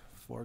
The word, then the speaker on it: faux: is a French word it's got an X in it but you don't even pronounce the X how do you like